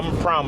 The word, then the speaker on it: Prampram: And this is how you you pronounce the town name. Palm pro pram prom like prom p prom.